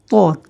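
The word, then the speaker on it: ط: তারপরের হরফটি হচ্ছে ত, ত। তা এবং ত দুইটা আলাদা শব্দ, আলাদা হরফ। তো তা থেকে অল্প একটু ভারী উচ্চারণ হবে ত। উচ্চারণটি হচ্ছে ত।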